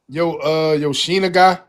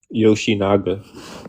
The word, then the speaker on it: Yoshinaga: right, we're gonna go to Yoshina guy. Is that how you pronounce that? Yoshina guy? Yoshinaga. Yoshinaga.